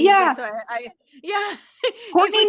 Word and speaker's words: Courtenay: I spell my name like Courtenay, so it is pronounced Courtney, but it's spelled Courtenay, so it's Okay.